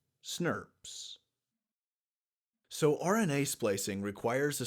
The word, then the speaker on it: snRNPs: nuclear ribonucleoproteins is snrnps which we can say phonetically as snobs so RNA splicing requires